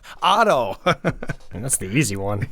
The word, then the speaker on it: Otto: You're like Odo, yeah, Otto.